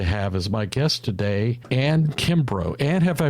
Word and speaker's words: Anne Kimbrough: This is another episode of what I call my Remarkable podcast, and I'm delighted to have as my guest today, Anne Kimbrough. Anne, have I pronounced your name properly?